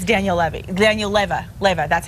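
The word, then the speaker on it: Leyva: producers just informed me it's Daniel Le Daniel Leva Lea that's how you say his name that's that's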